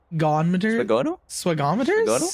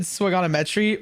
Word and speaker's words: swagometers: Swagometers? Swagometers? I think I said swagonometry, but it's swagometers, because someone's like, you're gonna say this guy's name wrong a couple of times, like, perhaps.